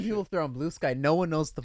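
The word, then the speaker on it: Bluesky: if they're on blue sky. No one knows what the fuck I'm talking about. Everyone yet. thinks it's pronounced Blueski.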